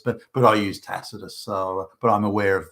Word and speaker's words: Tacitus: thousands of years ago the C was pronounced as a hard C or a k if you like so would have been pronounced tacitus I used more modern